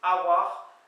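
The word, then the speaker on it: a walc'h: me servir du vin, ça s'écrit A espace W-A-L-C apostrophe H, mais ça se prononce Awar, Awal, comme ça se pourrait se prononcer, mais en fait c'est Awar, semble-t-il, pour assez.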